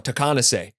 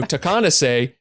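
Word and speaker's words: Takeahnase: The tribe where the word Takanasi, how do you pronounce that word? Is it Takanasi? Dylan, do you know? So Takanase, because Scott repeatedly says it, in the album Okay.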